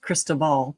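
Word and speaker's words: Cristobal: and with his assistant christobal christobal I'm sure it's supposed to be pronounced Krist Ball but there you go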